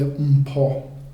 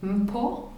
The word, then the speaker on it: Mpho: how do I pronounce your name correctly? You say Mpho. Mpho?